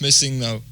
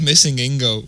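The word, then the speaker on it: MissingNo: How do you guys pronounce missing now? It's missing no, yeah. It was always missing Ingo whenever I was playing it. I don't know why. It's missing number, Yeah. Yes, okay, that makes sense.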